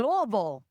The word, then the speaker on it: Louisville: Ashley in Louisville, that's how you say it.